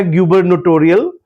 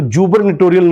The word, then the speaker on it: gubernatorial: फिर एक बहुत कॉमन वर्ड आया गबरनटोरियल। गबरनेटोरियल वर्ड मैं एक बार फिर से प्रोनाउंस करता हूं। गबरनेटोरियल। तो इसको जुबरनेटोरियल नहीं बोलना है।